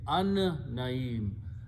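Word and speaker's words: النعيم: Al will remove on the mus, and pronunciation will be an-naeem. Noon is a shamsi letter. It kills the sound of lam and pronounced together twice.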